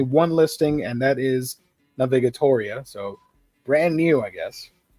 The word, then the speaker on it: Navigatoria: I'm pronouncing this correctly Navigator like navigate and Historia mixed together this is by Waka